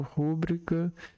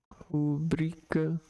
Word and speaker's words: rubrica: É frequente ouvirmos a pronúncia avaro, rúbrica e púdico. Ávaro, rúbrica e púdico. Vamos para Vamos pegar esse texto aqui para entender. as pronúncias a varo, púbrica e púdico como próparoxitas. Foi o que aconteceu comigo. Porém, como elas não recebem acento gráfico, devem ser pronunciadas como paroxítanos.